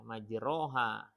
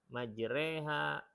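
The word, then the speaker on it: مجراها: Allah mudahkan bisa jadi ketika yang satu baca salah ya majroha ketika diingatkan ya majreha Oh majreha yang lain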